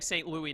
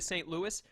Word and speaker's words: St. Louis: Louis Sableye you've got me saying st. Louie now and I'm upset because I know you're supposed to say to st. Louis that's not the way it's spelt but if anyone from st. Louis hears me saying Louie they're going to kill me he's what he's staying